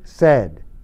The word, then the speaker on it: said: Say, said.